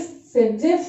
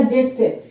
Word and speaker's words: Zaitsev: चूंकि Russian scientist हैं, लोग डिफरेंट तरह से उन्हें प्रोनाउंस करते हैं, तो कहीं भी अगर सेटजेफ लिखा हो या जेटसेफ लिखा हुआ हो, दोनों एक ही बात है।